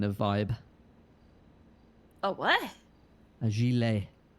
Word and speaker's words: gilet: A gilet. Like a jelly? No, like a... It's spelt gillet.